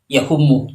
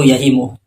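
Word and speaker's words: يَهِمُ: kitabnya itu salah karena dia membaca yahumu, padahal yang benar itu yahimu.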